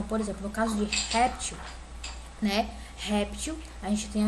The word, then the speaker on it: réptil: Qual é a sílaba mais forte? É o rep ou til? É o rep, né? Réptil, né? Aqui é a mais forte. E ela é a penúltima, ou seja, essa palavra aqui é paroxítona.